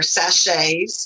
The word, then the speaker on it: sachet: Some of the things that you can make magic with the herbs are sachets or sachets, or I don't know how people pronounce it. I took French, so to me it's sachet. It's a cotton, silk, or